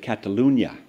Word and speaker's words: Catalunya: the Polytechnic University of Catalunya notice how I try to pronounce the Enya there he pursued his doctor